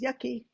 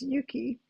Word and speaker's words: Yuki: yeah y UK Ki I hope nobody looks at that and says yucky because the Japanese pronunciation is Yuki um what type of